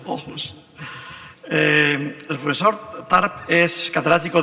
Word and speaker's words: Aarhus: Universidad de, no sé pronunciar, Aarhus, ¿cómo se pronuncia? Aarhus. Aarhus.